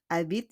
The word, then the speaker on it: habite: Le bœuf habite ici. Le bœuf habite ici. We don't pronounce le H. We don't pronounce the H.